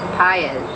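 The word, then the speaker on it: Patz: another very famous child etan pz who is pate as some people pronounce it whose parents have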